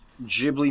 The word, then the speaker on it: Ghibli: Although the Italian word is pronounced with a hard G, the Japanese pronunciation of the studio's name is with a soft G. Ooh. So either is technically correct.